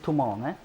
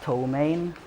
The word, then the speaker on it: Tohmane: I always say that I have 3 pronunciations. The Swedish one, the English one, and the Japanese one. Because of reasons, obviously. But the Swedish pronunciation is Tohmane. The English one is Tohmane. And the Japanese one is Tohmane.